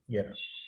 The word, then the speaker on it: Jera: इसको हम येरा करके मतलब प्रोनाउंस करेंगे. Yera.